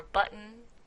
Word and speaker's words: button: Or sometimes people say kitten or button. Those are also glottal stops.